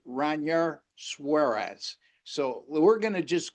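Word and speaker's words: Ranger Suárez: So tempted to always say Ranger Suarez, but actually his name is pronounced Ranar Suarez.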